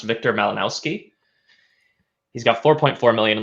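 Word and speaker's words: Wiktor Malinowski: I believe it's pronounced Victor Malinowski.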